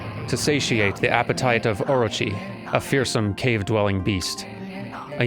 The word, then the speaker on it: Orochi: I guess it's technically pronounced like Orochi or something like that, but I can't get that R sound exactly right the way it's supposed to sound in Japanese.